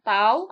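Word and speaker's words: τ: Kita bisa membacanya tau atau kalau di fisika itu membacanya torsi. Tetapi di sini kita akan membacanya tau A, B, X, Y didefinisikan sebagai tau A, B, X, Y.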